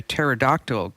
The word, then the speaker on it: pterodactyl: never know when a pterodactyl goes to the bathroom because the p is silent I mean go ahead